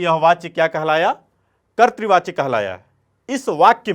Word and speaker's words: कर्तृवाच्य: क है, अ है, र है, त है और इसमें री की मात्रा है, तो यह कर्तृवाच्य है। क्या है? कर्तृ। इस तरह से सही उच्चारण इसका करना है आपको, कर्तृ।